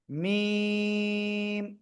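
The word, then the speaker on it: ميم: এই অক্ষরের নাম কি মিম এই অক্ষরের নাম কি মিম এই যে দুই ঠোট দুই ঠোটের শুকন জায়গা থেকে উচ্চারণ করতে হবে মিম মিম ওকে আশা করি ইনশাল্লাহ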